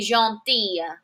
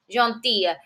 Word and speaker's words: gentille: Mais, but, elle est gentille. Gentille. Listen to that different pronunciation. Masculine, gentil. Feminine, gentille. I have a double L followed by an E, gentille.